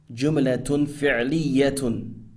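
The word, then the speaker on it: جملة فعلية: And number 2, a verbal sentence, pronounced jumlatun fi'liyatun.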